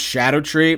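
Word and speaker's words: Scadutree: types of stat boost Shadow tree fragments yeah apparently it's pronounced Shadow tree there's some old English involved how anyone is supposed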